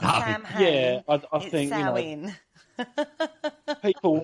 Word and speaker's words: Samhain: So anyway, it's also known as Samhain or Sam. A lot of people pronounce it Samhain, and it's not. It's Samhain.